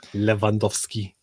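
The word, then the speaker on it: Lewandowski: You never pronounce the W. It's V. So it's, you know, Leandowski.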